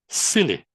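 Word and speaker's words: SYLI: inside yourself leadership institute s y l i pronounced as silly.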